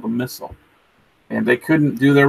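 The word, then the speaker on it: missal: a Bible it's not it's the missile I think it's spelled mi SS al and the missile it's like a gigantic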